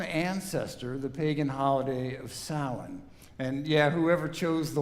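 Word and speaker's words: Samhain: I just don't see how those letters could possibly spell sin. But they do.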